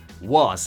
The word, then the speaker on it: was: In the simple past we say i was happy, was, the S is pronounced like a Z, i was happy, I was or I was happy.